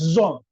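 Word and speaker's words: tsom: que es el ayuno la palabra hebrea para ayuno es zon se escribe con una t s o m Z que significa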